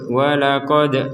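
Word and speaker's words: ولقد: kitab di sini ada Dal sukun kita pantulkan wqod waqod jadi pantulan itu maksudnya bagaimana ya jangan sampai kita membacanya walaqod w q q q itu enggak ada pantulan sama sekali jadi harus ada pantulan q a q q jadi wq Q seperti itu wq Musal kitab karena kita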